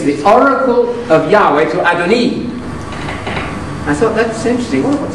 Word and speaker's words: Adoni: And I found that word was Adoni.